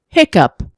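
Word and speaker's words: hiccough: Find the word where written GH is pronounced P. Hiccup.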